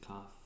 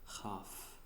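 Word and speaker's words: כּ: The next letter is going to be Kaf, and with the little dot, it's going to be Kaf, and without the dot, it's going to pronounce as Chaf.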